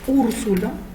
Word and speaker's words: Úrsula: voy a escribir ahora 15 palabras esdrújulas, como por ejemplo Úrsula, Úrsula, fíjense que la U está en mayúscula, también lleva su tilde, como por ejemplo miércoles,